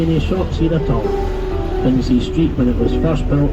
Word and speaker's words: Princes Street: The Princes Street, not Princess Street as it's sometimes mispronounced, but Princes, the plural of Prince, named after the two sons of George III, Princes George and Frederick.